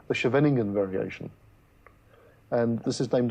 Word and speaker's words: Scheveningen: That's the one they used to make the suspected German spies pronounce. That's right, Yeah, yes, that's right. yes. I would have been caught as a German spy, because I can't pronounce it. Well, thanks to Afrikaans, I might have managed.